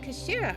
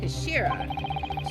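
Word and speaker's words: 頭: of the hilt okay it's written as head in Japanese but it's pronounced as Kashira I believe Kashira so Mr asa's word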